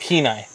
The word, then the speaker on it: Kenai: so it's like a canai chest holder from gunfighters Inc but it's like keenai Kenai what did I say canai Kai yeah that's the redneck pronunciation but it's like look